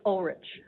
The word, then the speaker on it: Ulrich: It starts with a U-L, but it's pronounced like Ulrich.